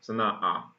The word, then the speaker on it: Sana'a: But, gotta remember the pronunciation. Sana'a.